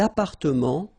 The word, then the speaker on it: appartements: Des appartements en copropriété. Remember, final S and final T are not pronounced here.